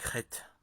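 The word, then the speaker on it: חטא: Le mot hébraïque rête péché se compose en réalité de trois lettres. Or deux seulement sont prononcés. La dernière est muette, c'est la lettre ALF qui symbolise l'inicité.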